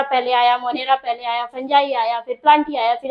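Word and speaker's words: fungi: ठीक, और सबसे इंपॉर्टेंट बात, बच्चे अक्सर इसे गलत प्रोनाउंसिएट करते हैं, इसे फंगाई फंगाई पढ़ते हैं, नहीं इसे फंजाई बोलते हैं, और हम लोग इसे फंगस भी बोल सकते हैं।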